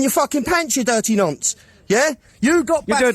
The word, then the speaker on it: nonce: Nonce. Nonce. Oh, nunce. It looked like you said nunt.